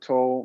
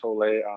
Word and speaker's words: Tolle: dude let me tell you something dude i got this eckhart toll man eckhart tolle i pronounce the last name i got the audio